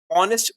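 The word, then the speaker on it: honest: ठीक है, शी इज अ हॉनेस्ट girl नहीं होगा, शी इज एन ऑनेस्ट girl होगा, कि उच्चारण के समय ऑनेस्ट ओ से आवाज आ रही है।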